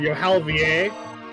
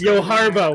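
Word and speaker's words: Johalva: It enrages me on a very firm level that the guy named Yohalvier, or Yohalvalier, isn't the Cavalier. That's because that's not how you pronounce his name. Okay. Yes, Yoharva, when there's not a B.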